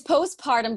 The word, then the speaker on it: postpartum: all right am i saying it right it's postpartum depression but you're very close i knew i